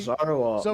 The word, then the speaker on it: Zoroark: You pronounce it for me. Zoroark. Zoroark.